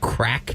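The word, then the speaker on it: craic: Well, it's spelled crack with a Q, like crack, like CRAIQ.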